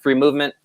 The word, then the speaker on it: FreeMVMT: Do you pronounce it Free Movement? Yep, we do.